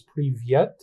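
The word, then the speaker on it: привет: I took some Russian classes, so I know in Russian it was privyet, but I think in Ukrainian it's privit, something like that.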